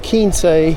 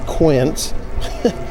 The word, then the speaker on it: Quince: And you have Quince, not Quince. which is what we were pronouncing it.